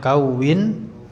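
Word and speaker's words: كَوِّنْ: Yaitu wawunya kasih tasdid, bacanya kawin.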